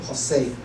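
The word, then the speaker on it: José: Okay, so and he just used Spanish pronunciation. So we'll call him Jose, okay?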